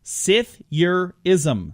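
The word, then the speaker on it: psithurism: these tricky ones where it's got a silent letter it starts with a P but you don't pronounce it it's sif your ISM Sathya is 'm PS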